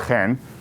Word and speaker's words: Chen: i'm actually israeli uh last name is pronounced hen um and i grew